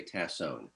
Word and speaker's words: Tassone: your last name well it's pronounced a variety of ways you're close we typically say tassone don tassone welcome the